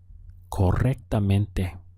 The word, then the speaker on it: correctamente: Now, in Spanish, they use this word correctly, so it would be correctamente. Notice we have a double R here, and so it's good to try to roll your R at that point.